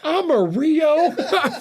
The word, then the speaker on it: Amarillo: What is Amarillo? Are you serious? Listen. Amarillo is yellow in Spanish. That's how you say it, and that's how you spell it.